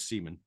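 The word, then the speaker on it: Semon: Well, no, Stan pronounced it as Seaman in interviews.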